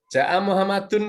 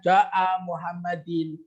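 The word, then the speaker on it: جاءَ محمدٌ: nggak boleh bacanya ja'a Muhammadin.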